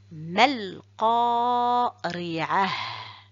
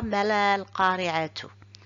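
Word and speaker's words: مَا ٱلْقَارِعَة: Donc pour la lecture, je dis mal qari'ah, mal qari'ah. Je ne prononce pas le mim et je ne prononce pas le ta à la fin. Je ne dis pas mal qari'atu.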